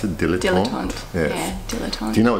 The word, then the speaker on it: Dilettante: But do you have anything else to add on Dilettante? Is that how you pronounce it? Dilettante?